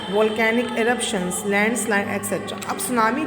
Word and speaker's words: सुनामी: सुनामी जो होता है बच्चों, एक जापानीज़ वर्ड है, इसमें टी साइलेंट होता है। पहले भी बच्चों ने पूछा हमारे में टी भी तो है, आप इसको टी सुनामी क्यों नहीं पढ़े, नहीं, सुनामी पढ़ा जाता है, टी इसमें साइलेंट रहता है।